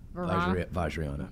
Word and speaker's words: Vajrayana: I'm going to let you pronounce this. Vajrayana.